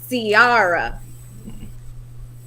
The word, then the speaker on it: Ciara: So everybody is talking about Ciara. That's how you say it. Ciara, yeah.